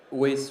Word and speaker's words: Weiss: Weiss rhymes with peace, or Weiser if you're German inclined.